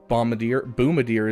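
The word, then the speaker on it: Boomadier: So, I only have 50 shards left for Tarful and Boomadir is how it's pronounced, just saying.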